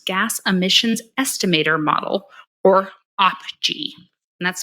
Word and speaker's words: OPGEE: Oil Production Greenhouse Gas Emissions Estimator Model, or OPGE, and that's spelled OPGEE.